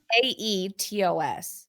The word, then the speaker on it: Aetos: It's spelled Aitos, but that's me going back to my Greek history degree because Um, it's Aetos. So if this was Greek mythology, it would be Aitos.